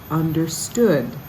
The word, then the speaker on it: understood: in that same verse understood your emphasis on that one is in the last syllable we don't understand he